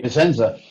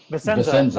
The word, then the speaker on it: Vissensa: Vissensa. Vissensa.